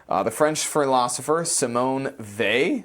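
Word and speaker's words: Weil: the French philosopher Simone they I think is how you say that it's not whale I'll tell you that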